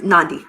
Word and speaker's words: Nandi: It's Nandi.